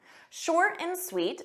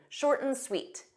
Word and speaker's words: short and sweet: Short and sweet. Notice that pronunciation. We take that and, but we just pronounce it short and sweet, short and sweet. So you pronounce it like one word.